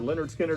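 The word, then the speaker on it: Lynyrd Skynyrd: on super pretty splatter vinyl uh yet another leonard skinner pronounced leonard steiner the the full album performed live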